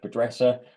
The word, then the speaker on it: Besser: chat window is besser I'll do my dad joke as I always do that my surname can be pronounced like someone who doesn't dress well a bad dresser but yeah I'll um